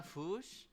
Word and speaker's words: Fuchs: Hannah Fuchs. That is how you pronounce it in Germany.